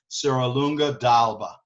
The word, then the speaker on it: Serralunga d'Alba: apostrophe it's not Alba if the D just goes into the word that's how it pronounce it so Serralunga d'Alba right and super famous